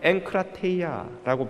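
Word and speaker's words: ἐγκράτεια: 헬라어로는 엔크라테이아라고 발음하는 이 단어는 특별히 우리 육체의 욕망의 조절에 관한 표현입니다.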